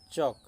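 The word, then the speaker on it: chalk: तापर आसला पिला माने चक। चक पढ़ला बेले कौन हेबो ना एल आ उच्चारण रे आसुना।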